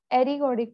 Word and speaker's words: ergodic: Ari, ma'am, what is the pronunciation? Ergodic, E-R. Ergodic नहीं, ergodic, it's called ergodic.